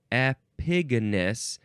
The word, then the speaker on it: epigonus: the same thing um epigonus now I would all epigon you could say epigonus but it doesn't really say that here epigonus yeah that's how you say it so this is not